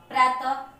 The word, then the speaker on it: प्रातः: जब भी हम इसका विसर्ग का उच्चारण करते हैं, किसी शब्द में पढ़ते हैं, तो इसका उच्चारण अंत में ह आता है। जैसे प्रातः, अतः, देखिए ह आ रहा है ना यहाँ पे।